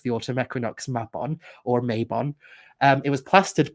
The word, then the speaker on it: Mabon: are using the word Mabon, but I do find it disrespectful that they're arguing with Welsh people who tell them, hey, that's not how it's pronounced. It's pronounced Mabon, not Mabon.